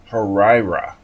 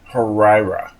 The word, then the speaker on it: Huayra: drive drift for this Pagani harra yes that is how you say it harira here's my share code